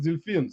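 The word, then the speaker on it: дельфин: but see that's a pronunciation is like similar a little bit different in English as dolphin in Russian as Delfin so it's like similar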